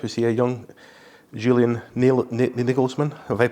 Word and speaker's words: Nagelsmann: Was he a young Julian Nagelsmann? Have I pronounced that right? Yeah, Nagelsmann.